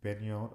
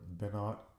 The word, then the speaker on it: Binot: Now, Benot or Benot, but it's spelled Binot.